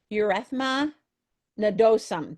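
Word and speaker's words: erythema nodosum: It's when it says ureth urethma nadosum. That's how that's pronounced.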